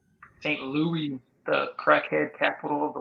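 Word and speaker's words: St. Louis: fly into St Louis yeah it's pronounced Saint Louis Saint Louis the crackhead capital of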